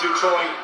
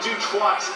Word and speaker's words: Dutoit: Dutoit, I'm reliably informed by our expert, Darren, that it is Dutoit, not Dutoit, as I have heard it pronounced a few times before.